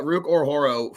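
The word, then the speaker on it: Ruke Orhorhoro: Uh Ruk Ororo. I always say it wrong, but it's uh Ruk Ororo from Atlanta.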